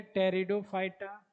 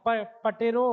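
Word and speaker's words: Pteridophyta: algae पढ़ोगे इसको ब्रायोफाइटा ब्रायोफाइटा इसको पढ़ोगे टेरिडोफाइटा है ना तो पी साइलेंट होता है इसमें पी पहले है ना पटेरो होता लेकिन टेरिडो पढ़ा जाता पी साइलेंट में टेरिडोफाइटा ये हुआ जिमनो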